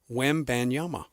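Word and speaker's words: Wembanyama: It's WM Banyama easy.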